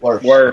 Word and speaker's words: Wirfs: Wirfs.